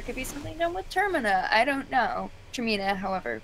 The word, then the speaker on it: Termina: Terminate? Yeah, terminate or terminal. So either way, I always thought it was it's terminal. Termina. So, and as a child, I always said terminal, but then again, I